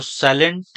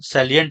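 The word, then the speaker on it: salient: तो साइलेंट यह है सैलिएंट फीचर इसको बोलते हैं। साइलेंट इसको नहीं बोलेंगे। सेलिएंट है ना सैलिएंट features of the double Alick DNA का स्ट्रक्चर है।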